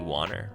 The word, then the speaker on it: Wanner: Yeah, so online, my channels are Cody Wanner. That's on YouTube. WANNER. Rhymes with honor if you want to pronounce it, but I don't care how you pronounce it as long as you're saying it.